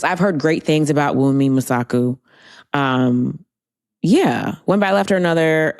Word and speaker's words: Wunmi Mosaku: Wunmi Mosaku.